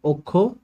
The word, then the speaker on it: অক্ষ: যেমন অক্ষ শব্দটার মধ্যে আপনি দেখেন ক্ষীয় শব্দটা যুক্ত হচ্ছে, এই কারণে কি হবে, অক্ষ ও হয়ে গেছে।